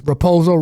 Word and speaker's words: Raposo: Yeah, for me, it's as simple as Raposo rhymes with bozo, so I'm gonna lean Sumudaerji.